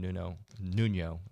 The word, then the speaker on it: Nuño: David Nuño, but it's spelled Nuno, on the Twitter, on the X, whatever.